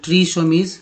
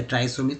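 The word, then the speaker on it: trisomies: अब बात करते हैं दूसरा तरफ, देखिए ट्राइसोमीज, एक्चुअली ट्रीसोमीज पढ़िए या ट्राइसोमीज, तो ट्राइसोमीज पढ़िए, ज़्यादा बेस्ट है ट्राइसोमीज, ठीक है, ऐसे लिखेंगे ट्राई, ट्री नहीं, ट्राइसोमीज।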